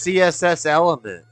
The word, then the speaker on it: CSS Element: That's CSS Element. Yeah. See settlements. Is that how you say it? C settlements? I've always said CSS Element. No, it's CSS element, but we joke on CT settlements.